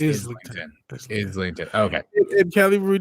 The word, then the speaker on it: Islington: anything, outside of it, so the S is pronounced, so it's okay. So it's Islington.